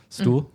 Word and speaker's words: Xtul: And there's like, where they were in Mexico is like, it's spelled XTUL, but it's Stuhl is like where they were at.